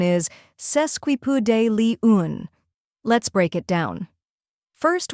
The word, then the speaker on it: sesquipedalian: like P in puzzle then comes day the stressed syllable which sounds like day in Monday finally Lee un sounds